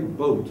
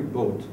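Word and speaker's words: Boadt: from the library Larry boat he spells his name b o a d t but pronounced Larry boat his reading the Old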